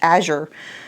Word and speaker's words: Azure: it that way because for years I called it Azure standard because that's just how I felt it was supposed to be pronounced and I've had so many people correct me saying it's not Azure it's Azure so I'm trying really